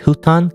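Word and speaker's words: 布団: huton the huton is I pronounce it in Japanese huton it's not futon it's huton I I don't know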